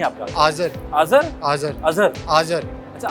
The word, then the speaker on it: Azer: आज़र।